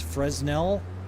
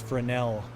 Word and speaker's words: Fresnel: Sometimes people mispronounce them as Fresnell or Fresnel. Fresno. Um, but it's Frenel, named after the I believe a French uh inventor, I believe.